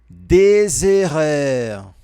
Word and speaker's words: des erreurs: J'aimerais parler en français, même si je fais des erreurs. Aqui nós percebemos que tem uma pequena ligação com o som de Z. Des erreurs, des erreurs. Faça atenção nessa pronúncia, no finalzinho.